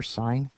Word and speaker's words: sin: just an abbreviation for sign U but it's pronounced sign even though it's written s n or sin you can call it